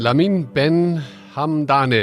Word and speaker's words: Lamin Ben-Hamdane: and the company's AI strategy enjoy listening lamin lamin Ben Haman you may want to repeat that was that was that correct pronouncing your name perfectly so the first question